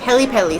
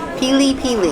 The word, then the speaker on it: pili: And then, because I'm gonna kill myself, we have the peli sauce. Pili sauce, actually. I'm saying it wrong.